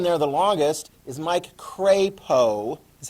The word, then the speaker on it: Crapo: that was pretty cool um the most senior of our the one that's been there the longest is mike crapo is how you pronounce his name correctly he's from idaho falls